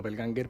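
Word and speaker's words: Doppelgänger: Bueno, yo te diría que en español sería lo mejor decir do Dopel Ganger porque si no nos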